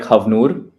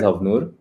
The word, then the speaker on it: Havnur: So, just like a mild correction, I it's like Havur pronounced as Havur and that's like pretty much my last name and I always find it found it to be very unique.